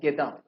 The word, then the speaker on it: گدا: اچھا اس کو فارسی تلفظ اس کا ہے گدا.